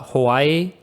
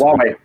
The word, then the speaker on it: Huawei: How do you feel about the Hawaii? I'm butchering the pronunciation as I read this. Huawei, yeah.